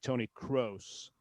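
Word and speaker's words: Kroos: but um you know, it's not Tony Cruz or Tony Cruz or anything like that. If you were to come up with an English example, an English equivalent of it, you you would you would best be advised to say some something like Tony Crows, but it's close. And so the O is a the O is not an O. It's an O.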